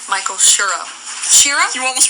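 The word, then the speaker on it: Chiro: sure let me give myself a pronouncer there well not like she it's sherro you know since my mom we're Italian family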